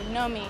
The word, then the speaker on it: Nomi: It's all in the name, Nomi. It's spelled N-O-M-I, but it's really K-N-O-W-M-E.